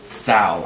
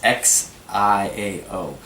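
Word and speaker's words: 箫: it's an Asian flute called a tsao. I believe that's how it's pronounced. It's Xiao, and I'm probably butchering. Xiao. We're butchering it. Forgive us, Mandarin speakers.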